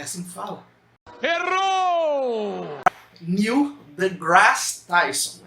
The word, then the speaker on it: Neil deGrasse Tyson: gente tem é o Neil deGrasse Tyson. É esse mesmo nome? É assim que fala? Errou! Neil deGrasse Tyson, é assim que pronuncia.